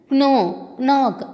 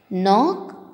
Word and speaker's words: knock: letter வந்து silent okay children க்னோ க்னாக் க்னாப் அப்படின்னு சொல்லக்கூடாது இதை ப்ரொனவுன்ஸ் பண்ணுறது தப்பு அப்படி ஸோ இந்த வேர்ட்ஸில் இருக்கிற கே வந்து சைலண்ட் லெட்டர் இப்போ சொல்லாமா நோ knock knob knife knot knee knit knee இப்படி தான் இதை ப்ரொனவுன்ஸ் பண்ணும் ஓகேவா இப்போ கே மட்டும் கிடையாது